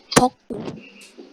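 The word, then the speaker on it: beaucoup: Kemudian ada beakou itu artinya banyak. Bacanya boku. Boku.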